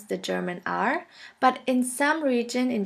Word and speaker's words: R: For this letter, there's no equivalent in English. In order to pronounce this letter right, you have to gargle in the back of your throat until it starts to vibrate.